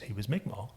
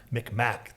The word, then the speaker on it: Mi'kmaq: And it was just known that he, you know, he was Mi'kmaq. Micmac, they said then. Yeah. I think the pronunciation changed.